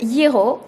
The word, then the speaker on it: gyros: in a sense I discovered the Euro which I am pronouncing wrong because I don't know how to roll the r like the locals it's basically one of